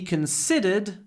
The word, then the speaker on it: considered: also be consider we considered three options remember the second syllable is stressed so we get a long s sound we considered we considered consed